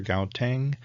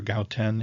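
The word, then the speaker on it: Gauteng: got two different versions it's either gout Tang or gout ten and you don't say to G anyways this is a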